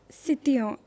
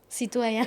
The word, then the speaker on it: citoyen: sitoyen citoyen citoyen because I would I'm still saying it wrong because it took a lot of practice.